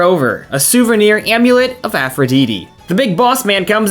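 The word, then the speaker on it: Aphrodite: all here to see the amulet of Aphroditi. He actually pronounced it the best. Aphroditi. He's probably Greek. He could be Greek. At least he had good pronunciation for the Greek words that were used.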